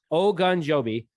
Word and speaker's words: Ogunjobi: knows my pronunciation issues i literally like wrote it out like we're all good oh gun joby yeah so he's coming